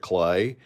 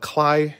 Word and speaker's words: Kley: And for many years, I called him Heinrich Kley. But Kley would be how we pronounce his name.